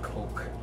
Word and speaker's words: Coke: I'd rather go with Coke. Don't pronounce it as cock, it's Coke.